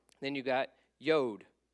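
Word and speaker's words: יוד: ISS Tate so it's t then you got yod yod and it's just a little little tick like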